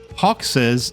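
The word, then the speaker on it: Hoxxes: this planet real quick the thing is there is no correct pronunciation haes is often said by dwarves surfing haes and and Hawkes is often said by Mission Control welcome to Planet Hawkes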